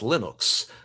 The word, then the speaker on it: Linux: My name is Linos and I pronounce Linux as Linux was the only audio